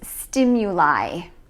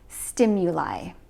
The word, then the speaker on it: stimuli: the plural form is stimuli and notice that we pronounce it with the I sound at the end stimuli number four species the